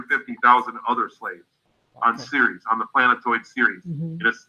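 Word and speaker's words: Ceres: there what what is are you saying the word series series burnout series it's spelled CER yes okay you can google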